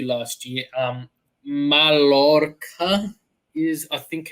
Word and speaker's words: Mallorca: Mallorca is, I think, how it's pronounced. Mallorca.